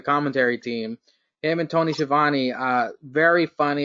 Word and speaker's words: Schiavone: I like how he calls Schiavone goes Scavoni. I like how he mispronounces it.